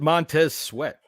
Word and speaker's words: Montez Sweat: You pronounce it Montez Sweat.